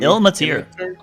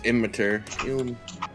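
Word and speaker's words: Ilmater: Ilmatir. Ilmatir, I thought it was Immatir.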